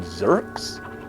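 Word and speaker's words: Zurks: primary antagonists early on they are called zerks um rhymes with jerks because they are jerks and we are going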